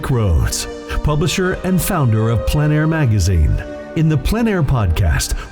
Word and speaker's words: plein air: The French pronounce it plein air. Others say PleinAir.